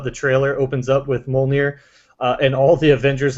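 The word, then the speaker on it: Mjölnir: How do you pronounce this hammer's name? Thor's hammer's name? Mjolnir.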